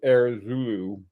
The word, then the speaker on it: Heure Zoulou: devochet and the our the air Zulu it's pronounced uh those are sort